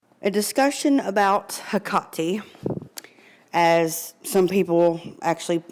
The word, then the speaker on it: Hekate: but it's actually pronounced haati now in some cultures people say it more like hecki other cultures they completely leave the H off and say it like aati it just depends on